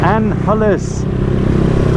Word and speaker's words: Angeles: it's not Angelis it's Anne Hollis top of opponents the ones that this is their city their area the point they were born and raised here they do not pronounce the G and Hollis and Alice